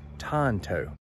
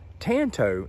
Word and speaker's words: Tanto: the conclusion that I have come to is Tonto Tonto I literally went out and looked up the American pronunciation of that word now Tanto is what some of you are wanting to